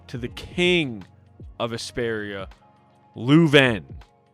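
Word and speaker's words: Leuven: We are then introduced to the king of Esperia, Lueven. I think that's how you say it. L E U V E N, Lueven.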